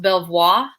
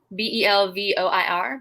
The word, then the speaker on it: Belvoir: butcher the name but i believe it's pronounced belvoir fruit farms b-e-l-v-o-i-r belvoir uh i'm good this